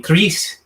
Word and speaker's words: Cleetche: But he would pronounce my name. He was of Spanish origin. He would call me Cleetche. And so my friends started calling me Cleetche, Cleetche, and I became Cleetche.